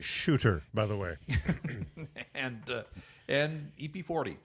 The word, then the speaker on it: Suter: I believe it's pronounced shooter, by the way.